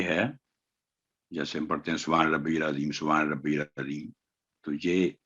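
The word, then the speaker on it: سبحان ربي العظيم: آگے ہے جیسے ہم پڑھتے ہیں سبحان ربی العظیم، سبحان ربی العظیم، تو یہ اس میں کافی غلطیاں ہوتی ہیں. سبحان ربی، ربی با پر تشدید ہے، تو پہلے با پر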